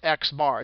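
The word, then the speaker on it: x̄: Okay, it's literally pronounced Xbar.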